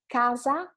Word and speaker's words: casa: For example, the first couple of words, casa and cassa. Casa, cassa. You can repeat it and see how different it is, right? Casa means home and cassa is the cashier. So two very different things.